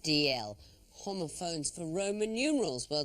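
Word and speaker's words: Dalziel: It's written D-A-L-Z-I-E-L, but pronounced DL.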